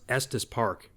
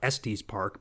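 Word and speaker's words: Estes Park: pretty cool because it actually knew how to pronounce EST Park you know I even hear people in real life typically who are from out of town they call it es Park but the AI actually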